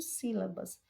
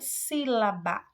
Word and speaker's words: sílaba: A própria palavra sílaba, sílaba, você observa que o si é a sílaba mais destacada, ela se destaca mais do que as outras.